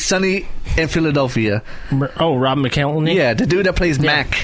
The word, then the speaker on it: McElhenney: How do you pronounce his last name? McElhenney.